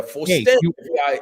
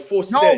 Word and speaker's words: Fauston: Oh, you can say Fauston. That's all right, but it's Faustin.